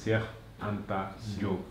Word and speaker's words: Cheikh Anta Diop: We were able to just chit chat in Wolof for a little while, but that's the actual pronunciation. Cheikh Anta Diop.